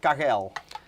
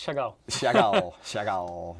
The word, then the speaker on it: Chagall: make mistakes chagall chagall i always say kakel i don't know why you do that but it's chagall nice name anyway so this